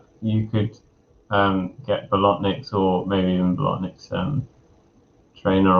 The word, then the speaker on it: Bolotniks: But I'm sure it's Bolotniks for the surname.